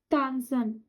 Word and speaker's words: tanzen: जी होगा, जी कान तानसन, तानसन। डांस का क्या होता है? तानसन। इसका मैं प्रोनाउंसिएशन भी लिख दे रही हूँ, tanzen.